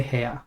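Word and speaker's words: は: know this is H we say ha you wouldn't say a that sounds like air but ha however when it's a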